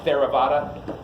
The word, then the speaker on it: Theravada: Right, Theravada, like Theraflu, but Vada instead of flu.